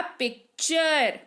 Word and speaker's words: picture: टी के बाद अगर URE हो तो टी का उच्चारण च होगा। ये हो गया पिक्चर।